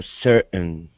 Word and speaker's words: certain: Certain, I say certain, and other people might, but the one thing to keep in mind, this AI is not an A sound. So it's what we call a schwa in linguistics. It's certain, an sound.